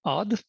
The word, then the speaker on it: Odd: I have the nice Norwegian name Odd. So yeah, that's actually how it's pronounced as well.